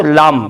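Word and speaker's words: lamb: د لام په کلمه کې ګورو دوستانو د بی حرف تلفظ نشو لام یا د کلایم.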